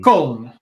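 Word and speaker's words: Köln: Well, there's like the spelling of the folks over there, which is just Koln.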